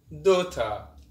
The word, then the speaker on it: daughter: GH is silent when it comes after a vowel. Example. Fort. Through. Daughter.